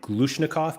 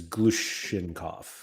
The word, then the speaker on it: Glushenkov: Looking now, I definitely pronounced his name Glushnikov, but it looks like it's Glushenkov.